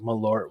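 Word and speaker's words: Malört: Isn't it that pronounced shit is Merlot? so- Isn't the T like silent? No. That's Not Merlot. Is it? No. Not like Merlot, like the guy from like Merlot True Bloods.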